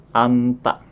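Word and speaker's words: 앉다: Misalkan ada anta yang mempunyai arti duduk. Anta. Jadi jetnya diabaikan. Anta.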